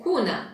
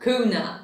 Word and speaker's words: kuna: So the 200 kuna banknote is brown, and you pronounce it kuna, not kuna, like I did a bit earlier.